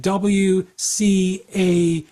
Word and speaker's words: WCAG: So they're pronouncing the letter W, but then taking the CAG and making it into a little word, CAG.